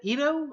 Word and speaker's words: Ido: uh your name is Ido Ida is that how you pronounce that Idaho oh so the O sounds like an O and the I sounds like an e so e to Edo or Edo you know